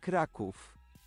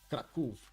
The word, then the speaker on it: Kraków: I guess that's actually easier to pronounce. And the other one would be Krakow. Krakow. Huh? Kraków. Kraków.